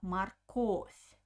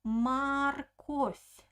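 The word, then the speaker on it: морковь: we pronounce it uh the second o is stressed so i pronounce a very clear o marcos but the first o doesn't have an accent i pronounce it like ah marcos marcotte and also pay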